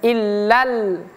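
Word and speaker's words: إِلَّا اللَّائِي: Illa ini tasdid, illa. Kemudian lam yang di sini juga tasdid. Illal. Jadi bacanya illal. Dari la masuk ke al. Lalla. Nah, kemudian di sini ada garis yang melintang di atas pada lam yang kedua ini. Nah, garis yang melintang di atas ini seperti sudah saya sampaikan tadi harus dibaca panjang.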